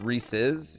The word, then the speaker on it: Reese's: It's pronounced Reese's.